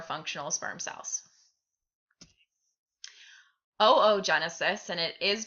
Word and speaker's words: oogenesis: Oogenesis, and it is pronounced oogenesis, not oogenesis, is the process of making eggs.